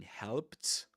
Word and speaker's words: helped: saying Harry helped me because of the you know the ed pronunciation in helped helped.